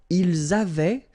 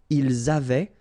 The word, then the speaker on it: avaient: Ils avaient, so remember, even if we've got this A-I-E-N-T, well, we don't pronounce it, or we don't pronounce this E-N-T, so we get avait, okay, phonetically. Ils avaient, okay, and then elles avaient.